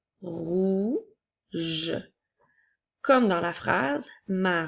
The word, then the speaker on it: rouge: adjectifs alors commençons par la couleur rouge qui s'écrit r o u qui fait le son ou G qui fait le son J et la lettre E pour faire rouge comme dans la phrase